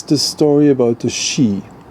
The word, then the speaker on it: Sidhe: It's the story about the Shee, called, spelled Sidhe, but pronounced Shee.